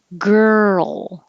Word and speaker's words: girl: l ger your tongue is curled back for the r and then you're moving to the l so keep your voicing going and that's what makes the roll sound girl so it's almost two syllables and if you think